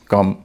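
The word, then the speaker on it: come: उ होता है जैसे ओ के बाद जब वी एम और एन होता है तब ओ का उच्चारण अ हो जाता है जैसे एल ओवी ई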